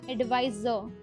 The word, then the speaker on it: advisor: Next career title is advisor. It's not sir, it's zo. Zo sound is coming here. Advisor. And R is silent.